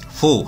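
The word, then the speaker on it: ふ: kemudian ini si nah ini full hati-hati ya bukan Hut tetapi Fu terpakai of ya Dan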